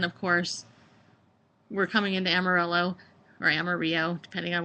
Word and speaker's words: Amarillo: here to Amarillo, um I want to say Amaro, but that's not it's not how you say it, right? It's Amarillo.